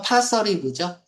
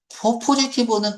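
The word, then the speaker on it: positive: 원래 발음은 파서리브죠. 파티브 포지티브는 긍정적인 거 아니에요.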